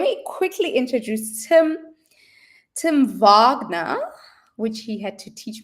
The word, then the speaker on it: Wagner: Tim Vagnner, which he had to teach me how to pronounce is the founder is a founder.